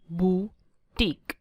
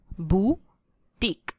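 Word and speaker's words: boutique: जहाँ पे fashionable clothes cell होते हैं उसे प्रोनाउंस करते हैं ऐसे, बुटीक, बुटीक।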